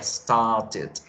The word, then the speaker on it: started: Entonces, start en pasado en su pronunciación sería started, started. Le hacemos ese sonido de ed al final, started.